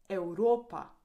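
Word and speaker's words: Evropa: Europa Europe. Here the V sounds like u happy.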